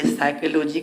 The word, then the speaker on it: psychology: अगर कोई पूछ दे साइकोलॉजी का तो जानते हैं PSYCHOLOGY, साइकोलॉजी मतलब मनोविज्ञान, साइकोलॉजी, साइकोलॉजी मनोविज्ञान, साइकोलॉजी, साइकोलॉजी उच्चारण देख रहे हैं, साइकोलॉजी मतलब मनोविज्ञान। याद रखिएगा पी से स्टार्ट होता है, PSYCHOLOGY।